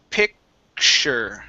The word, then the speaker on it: picture: a word or whatnot, the T is going to change to an SH sound. Okay, so this word is actually pronounced picture. Picture. Instead of picture, picture.